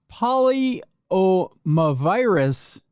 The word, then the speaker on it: polyomavirus: Polyomavirus vaccine. Polyomavirus vaccine. That's how it's spelled.